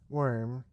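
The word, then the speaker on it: Wyrm: everyone trip on it it's pronounced worm which means dragon okay so woven worm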